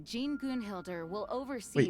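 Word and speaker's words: Gunnhildr: With Grandmaster Varka away from Mondstadt for the time being, I, Jean Gunhilder, will oversee Wait, it's today's pronounced proceedings.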